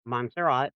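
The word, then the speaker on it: Montserrat: Monserat. Monzerat is the only place outside of Ireland where St.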